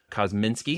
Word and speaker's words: Kozminski: And my good friend and brother from an Israeli mother, Yoni Kozminski.